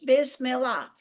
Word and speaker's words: Bismillah: And the very first part of it is Bismillah ir-Rahman ir-Rahim. And the way I learned that, I said, say that again. And I wrote down B-I-Z, biz, M-I-L-L, mil, A-H, Bismillah, in the name of God.